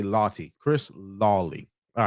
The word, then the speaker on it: Lawtey: that I love um Chris Lottie I think that's how you say his name Lottie l-a-w-t-e-y Chris Lawtey